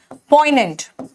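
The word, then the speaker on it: poignant: पोइनेंट। देखो इसमें जी साइलेंट है।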